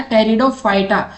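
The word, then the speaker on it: Pteridophyta: Fern belong to which division of plant, तो fern है साथी वो टेरिडोफाइटा में आते हैं, ठीक है, इसमें पी साइलेंट रहता है। टेरिडोफाइटा, टेरिडोफाइटा में किसकी स्टडी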